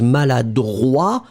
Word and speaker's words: maladroit: pronounce it slightly differently, because maladroit, masculine, final T not pronounced. And then feminine form, maladroite, you will pronounce it.